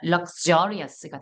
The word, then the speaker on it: luxurious: 그래서 이 X를 중심으로 강세가 앞에 있으면 크스, X 발음이 강세가 뒤에 있으면 그즈가 됩니다.